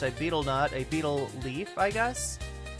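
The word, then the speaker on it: betel: The nut is pronounced a beetle nut.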